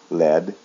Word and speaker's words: led: In the past form and in the past participle, there's no A and it is pronounced with a short E sound, led, led.